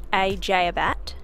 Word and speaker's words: Eceabat: From the ferry terminal in ECEABAT, pronounced ECEABAT, we jumped on our tour bus and drove over to the other side of the peninsula to Anzac Cove.